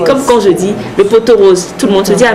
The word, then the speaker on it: pot-aux-roses: même l'effet de friture on dit souvent le pot-aux-roses attention on ne dit pas le poteau ce n'est pas faute